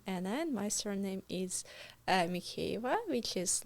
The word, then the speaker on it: Mykheieva: My surname, my first name Anna and my surname is Mava, which is like Ukrainian Russian probably. Yeah. But it's very hard to pronounce. Mava.